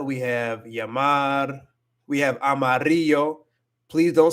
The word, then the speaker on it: amarillo: Don't ever say Amarillo. Don't ever say Amarillo. It's not Amarillo. Like Amarillo, Texas. Oh, the amount of times I hear that. Don't say Amarillo, Texas.